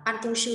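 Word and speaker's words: 办公室: Từ đọc là ban công sư là văn phòng làm việc nhé.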